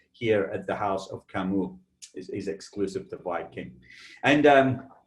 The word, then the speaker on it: Camus: Not to be mistaken, if you ever see the spelling of Camus, it's C-A-M-U-S, sometimes confused with Camus of the Napa Valley fame, but this is pronounced Camus, and it is the House of Cognac.